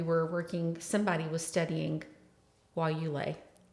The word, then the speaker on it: guayule: say that we were working somebody was studying while you lay.